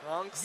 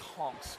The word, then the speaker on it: Hanks: guy some uh Hanks honks yeah yeah in France it's honks but uh yeah here it's uh it's pronounced honks for those who know but the Americans have made it Tom Hanks yes so that was